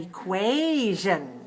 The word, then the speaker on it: equation: last we have an equation an equation equation three syllable stress the second three two and remember this t-o-t-i-o-n is not shin it's zheng all right so our equation